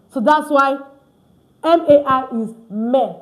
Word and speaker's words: mai: Because AI in French is pronounced E.